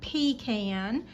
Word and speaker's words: pecan: I've al we also have pecan trees and that is the corre correct pronunciation pecan.